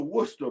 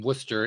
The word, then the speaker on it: Worcester: First of all, uh the town he's from is from Worcester. It's pron it's pronounced Worcester. It's spelled W O R C T R. It's one of those weird English pronunciations.